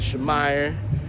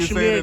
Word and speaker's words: Shamir: Am I saying it right, yo? I've been meaning to ask. Oh, it's Shamir, but Shamir? Oh, okay, yeah, bet. See, I've been calling you Shamir, then I was calling calling you Shamire too. You know what I'm saying? Yeah. I've been saying this name wrong. It's Shamir.